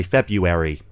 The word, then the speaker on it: February: but yeah you've got people who even again drop the r and say February um Nikki I noticed